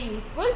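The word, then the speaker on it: useful: यू आ रहा है, पर स्टूडेंट इसका जो प्रोनाउंसिएशन है ना वो ऐसा है, यूजफुल, यूजफुल है इस तरीके से, तो उसका प्रोनाउंसिएशन में वाई आ रहा है, तो वाई आ रहा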